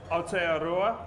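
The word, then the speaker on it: Aotearoa: Thank we appreciate you coming uh coming out here from Just Correct me on my pronunciation. AOA. Is that correct? That was perfect.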